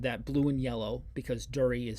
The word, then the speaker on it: Duri: blue and yellow because durie is spelled d-u-r-i it's actually i think it's pronounced turi but it's sec it's